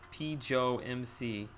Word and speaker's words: PJoMC: By the way, name is pronounced PJoMC. I think I've been calling you, haven't I?